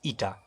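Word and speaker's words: η: तो अगर हम यहाँ पे कांस्टेंट ऑफ प्रोपोर्शनलिटी लगाएंगे तो कांस्टेंट ऑफ प्रोपोर्शनलिटी जो यहाँ पे यूज होता है दैट इज कॉल्ड एज या प्रोनाउंस्ड एज ईटा, ठीक है।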